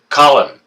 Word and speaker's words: Colin: Not Colin, Colin. His name looks like it's spelt like colon, but it's not colon. It's Colin, like Collin.